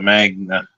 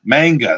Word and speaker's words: manga: I decided to start the Magna manga manga that's it that's the pronunciation my first one yeah